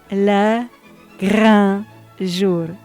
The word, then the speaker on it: le grand jour: It almost sounded like a little L at the end. So that is my choice if I had to pick the reconstitution for Le Grand Jour.